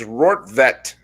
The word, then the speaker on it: Rortvedt: of planet earth and there they have the pronunciations it's rort vette and who knows he